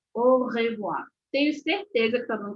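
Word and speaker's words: au revoir: que a pronunciação correta o sonzinho de a e u no francês é o então é o revoar o revoar não ao revoar ou ao revoir de jeito nenhum o revoar o revoar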